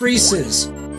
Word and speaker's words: Reese's: Pieces rhymes with Reese's.